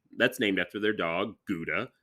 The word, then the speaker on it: Gouda: named after their dog, Gouda, which is actually pronounced Howda, right? Like, oh, I have no idea. I don't know. I've heard that Gouda was actually pronounced Howda. So.